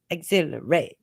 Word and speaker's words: exhilarate: about the Rhythm anticipate Exhilarate or is it anticipate exhilarate how was it this speak it with rhythm anticipate Exhilarate exhilarate so emphasis on the second syllable anticipate Exhilarate so now